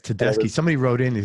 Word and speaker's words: Tedeschi: Rocks with them with Tedesco Trucks. Tedesco Trucks. Oh my god. And Gary Clark Jr. Oh my God. Yeah, it's Tedeschi.